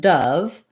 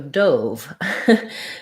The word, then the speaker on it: dove: to have different sounds like dove well dove the bird the noun there's also dove so the verb dove um that has the o so and that follows the rules a little bit more clearly because usually when there's an e at the end it makes that vowel letter say its name so um o plus e equals o a plus e equals